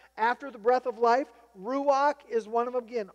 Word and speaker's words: ruach: Number one, there is the word, again, ruach. So put that in there after the breath of life. Ruach is one of them, again, R-U-W-A-C-H.